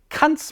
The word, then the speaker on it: Kant: Please allow me to pronounce the name here in its pure German form. Kant's main project was nothing less than the purification of reason.